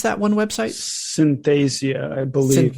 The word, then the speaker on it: Synthesia: using like you said synthesis how do you pronounce that one website synthasia i believe it's called synthesia okay perfect so basically i did consulting work